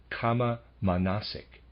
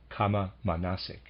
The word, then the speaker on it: kama manasic: A kind of thinking such as this is, quote, kama manasic, close quote. Let me spell that, readers aside, K-A-M-A hyphen M-A-N-A-S-I-C, kama manasic, end of readers aside.